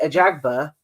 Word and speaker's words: Ajagba: And we're just going to double check how to pronounce his name before I cause offence. F.A. Ajagba.